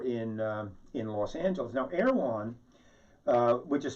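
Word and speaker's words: Erewhon: the grocery store in in los angeles now erwan which is spelled e-r-e-w-h-o-n erwand and it's an anagram of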